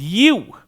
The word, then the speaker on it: ewe: Its pronunciation, by the way, is ewe.